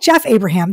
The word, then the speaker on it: Jeff Abraham: I can't even believe it, because I've never had a guest on my show that is like Jeff Abraham.